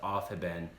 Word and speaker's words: Aufheben: word at all but it's not that bad it's off hidden it's it's quite its phonetic lots of German stuff is very phonetic so it's off have been and I'm not expecting